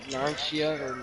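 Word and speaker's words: Narancia: In fact, Naranchia Yeah.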